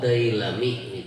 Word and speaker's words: Dailami: Rawahu itu bacanya bukan huruf hamzah lah, itu huruf lam itu makanya bingung tadi nah. Rawahu Dailami itu kayak itu bacaannya.